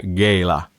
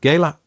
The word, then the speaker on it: Gala: show in Gala in gala gala yeah I I checked how to pronounce it you can be said Gayla or Gala Gala Oscar Gala Oscar